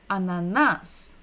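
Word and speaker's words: ананас: begin with ah ah so we're stressing the final syllable the last syllable ananas next one remember listen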